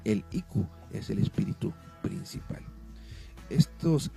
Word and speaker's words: Iku: significa, o mejor dicho, ellos lo pronuncian como Ikus, acento en la O con ese, Ikus. y nosotros como santero Iku.